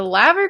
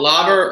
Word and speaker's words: Laver: my brain just automatically, because in Romanian you read letters the way that they're actually supposed to be pronounced. So you don't say you would literally say la, you say Laver la, Cup. not lay.